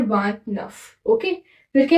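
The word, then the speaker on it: vingt-neuf: इसको व, इसको नफ साथ में मिला के बोलते हैं वांट नफ।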